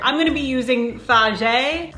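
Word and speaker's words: Fage: going to be using fagi it says it's pronounced fah yay i'm going to be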